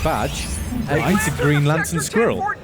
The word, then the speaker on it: Badge: Like this guy up here, who it's pronounced Badge.